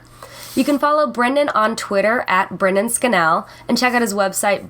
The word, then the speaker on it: Scannell: right in school sorry Scannell no yeah it's like the in Ireland they pronounced it scan all which is so disgusting